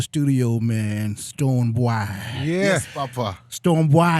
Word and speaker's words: Stonebwoy: Stonebwoy. Did I say it right? Did I say it right? It. Perfectly said.